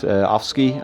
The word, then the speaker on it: Afsky: very special geeks or spectral wound played and offski I'm sure I mispronounced it yeah that's correct in Indonesia we